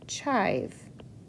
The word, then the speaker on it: chive: I says its name, so I know there's a silent E at the end. I'm going to draw an arrow from my I to my silent E.